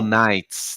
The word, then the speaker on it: Knights: O K é mudo. Não faz isso com professor de inglês, não. É Marvel, Marvel Knights. Nights cai mudo.